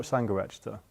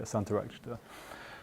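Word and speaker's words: Śāntarakṣita: It's not Sangharakshita. Yeah, Santarakshita.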